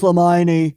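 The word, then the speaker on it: Limani: lmani said the 23-year-old woman from J it's pronounced leion it's leion l i m a n i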